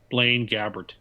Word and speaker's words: Blaine Gabbert: Now, maybe, Tim, how do you pronounce the name of the Titans quarterback? Blaine Gabbert.